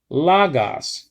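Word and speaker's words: λόγος: Logos, you see? Okay, some people pronounce it in this way, logos, especially the Greeks. Logos. They pronounce it more than we do, the accents. So lay stress upon it.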